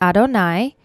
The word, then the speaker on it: Adonai: the second line says before yudhei vav hey we pronounce it adonai elohei-chem your god.